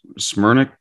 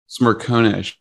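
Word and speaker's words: Smerconish: show interview with michael oh gosh i was butchered his last name smyrna smyrna is a cnn guy oh smirk sure smirkownish yeah and it was his first question too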